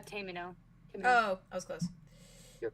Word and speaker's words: Tamino: It's not Tamer, is it? It's Tamino.